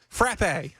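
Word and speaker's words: frappé: Frappe. Frappe. Yes. Like frat with a P.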